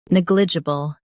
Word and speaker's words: negligible: Negligible. Stress neg and keep j soft.